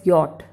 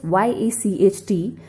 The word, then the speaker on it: yacht: Moving to number 2, which is pronounced as yacht. Remember, it is spelled as Y-A-C-H-T, but it is pronounced as yacht.